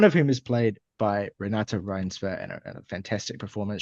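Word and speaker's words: Renate: Renata Reinsve. Okay, see. Yeah, good, good. I'll go with you guys. So one of whom is played by Renata Reinsve in a fantastic performance.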